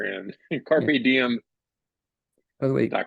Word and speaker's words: Carrpediem: Dave Carr owner of let me get the pronunciation of that name the company Dave the owner of carpe diem Carpe Diem and you can feel free to